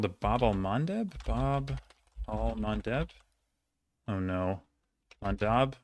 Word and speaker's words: Bab el-Mandeb: The thing is, like, it's spelled differently all the time because of, like, Arabic transliterations. Bab el-Mandeb? Bab el-Mandeb.